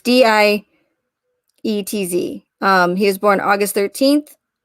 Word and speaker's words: Dietz: Anyways, it's Dietz.